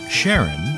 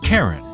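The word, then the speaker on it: Charon: when he looked up sharon in the dictionary he was surprised to find it was in fact the name of a greek god spelled the same but pronounced karen they opened c-h-a-r-o-n and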